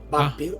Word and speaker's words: Vampir: vampire, ajá, y de el alemán vampir es según Aunque de hecho, hermanito, en alemán es Vampir. vampire. O sea, porque la V se tiende a pronunciar mucho más como una W.